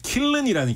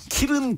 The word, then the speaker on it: 킬른: 찌냐 men 이거 이제 킬른이라는 기계에 놓고 찌는데데 지는데요이 업계에서는 흔히 이거를 뭐 발음을 편하게 하려고 그러든지 흔히 키은 키른 이런 식으로 부르는데 K 킬른이 표준 하고요 네네 어 이게 기기